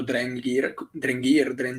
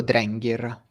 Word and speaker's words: Drengir: Io dico Drengir, Ah, ok, con, o con io la G, Drengir. con la Boh. G dura e l'accento su l'accento sulla E.